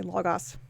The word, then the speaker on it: logos: hide knowledge the logos i'm going to say logos gotta do the greek pronunciation the logos to illuminate